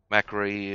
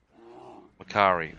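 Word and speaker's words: Mac'Aree: want to go into Macri or whatever you want to call it, Macri or Mackay. I am afraid our continued presence on Makari. Macari, that's it. That's how you pronounce it.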